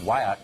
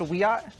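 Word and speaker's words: Wiyot: Madison Flynn is a member of the Wyatt Tribal Council in California and she joins us tonight Madison thanks for coming on hi thank you for having me it's pronounced we are oh I beg your I beg your pardon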